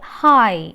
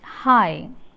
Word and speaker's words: high: The next word high, high, IGH stands for the vowel glide I. Here actually G and H is silent.